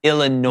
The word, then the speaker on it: Illinois: cat for that later just don't even put the S why is it there just well the way it's pronounced is i l l i n o y think about it like that Illinois you're fighting a losing